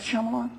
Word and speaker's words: Shyamalan: how do you pronounce his name m night shamalan shamalan it's like kind of like that at the end is that Shyamalan yeah it's like his you're going to get